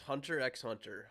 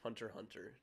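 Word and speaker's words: Hunter × Hunter: class another classic it's hunter x hunter hunter hunter sorry not supposed to pronounce the x it is what it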